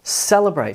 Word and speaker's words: celebrate: Celebrate. So there's some emphasis on the first syllable, cel, almost nothing on that vowel sound, and then the third syllable, brate, gets most of the emphasis.